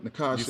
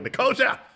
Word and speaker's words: Nicosia: You Nicosia. said it Yes. right. You said it right. And then And look, and I said it wrong at the beginning. I was like, Nicosia.